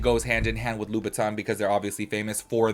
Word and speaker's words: Louboutin: I just feel like every girl out there will probably like correct me because I always call it Louboutin, you know, like the shoes, the red bottom shoes, but it's Louboutin.